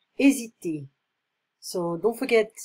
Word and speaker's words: hésiter: So this is chapter 7, hésiter. So don't forget, in French, we don't pronounce the H. So hésiter.